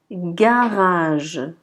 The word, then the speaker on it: garage: exemple, la lettre G, la première lettre G, elle va être prononcée G. G. Donc on dira garage. Garage. Remarquez que le premier G, c'est G, et le deuxième, c'est je. Donc garage.